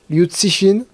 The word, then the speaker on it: Liu: ou une autrice alors Luin du coup ça se prononce lin c'est toujours une qualité